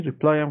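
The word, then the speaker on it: reply: است و تاکید و فشاری که باید رو تلفظ لغت داشته باشیم رو این قسمته پلا پلا یعنی پلا محکمتر میگم لغط بعدی ریپلای که به معنی پاسخ دادن پاسخ لغت بعدی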